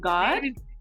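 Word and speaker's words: GAWD: straight out of Jersey they call them God call something God yeah but the name is unique it's spelled g a wd it means good ass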